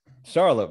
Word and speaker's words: Charlop: last name no it wasn't too bad Charlie pronounce it Charlotte okay all right all right yeah all right